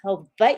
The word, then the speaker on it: Hawaii: people who aren't from Hawaii say Honolulu Honolulu I'm like that's not the name it's Honolulu Honolulu uh Christina Dodd says Hawaii you can say Hawaii or Hawaii with a V either way is okay Christina Dodd